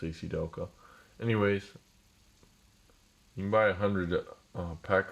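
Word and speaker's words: ACDelco: CDL code AC Delco thanks pronounced AC Delco anyways by a hundred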